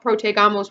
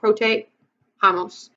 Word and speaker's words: protejamos: We don't want protegamos, we want protejamos.